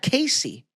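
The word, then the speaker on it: Caissie: Casey.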